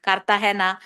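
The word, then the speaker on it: Cartagena: The same for kartahena spelled as g e n a but pronounced as kartahena.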